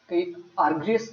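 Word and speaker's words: Argyris: Next thinker है Chris आइजरिस। इनका जो योगदान है ऑ्गेनाइजेशनल बिहेवियर से है। अगेन हरबर्ट साइमन की तरह यह भी व्यवहारवादी चिंतक है आइज़िस। आर्ग्रियस भी कई जगह ये इनकी प्रोनाउंसिएशन होती है।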